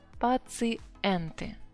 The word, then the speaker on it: пациенты: And the last one, пациент, a patient, and пациенты, пациенты. Better to say, yeah, because it's a foreign word, and ye usually we pronounce as e.